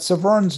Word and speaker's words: Severn: a small thing that severn's name is pronounced with the emphasis on the second syllable severn the river in